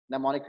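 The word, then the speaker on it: mnemonics: निमोनिक्स की spelling में M will be silent.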